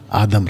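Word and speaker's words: אדם: उनका प्लूरल, उनका नाम आदम रखा। तो पुरुष का नाम भी आदम, स्त्री का नाम भी आदम। और आदम का सही प्रोनाउंसिएशन है आदाम। आदाम, आदाम का मतलब होता है आदमी, मैन, MAN, मैन।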